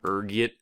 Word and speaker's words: ergot: next is this one there's a few different ways you can pronounce it depending on your social standing ranging from urgit to elgo being the disheveled pupper i am i prefer ergot rolls off the tongue you know ergot is